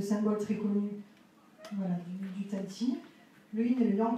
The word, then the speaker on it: qi: C'est-à-dire que chaque chose contient une énergie, ce qu'on appelle le chi, QI, qui se prononce chi.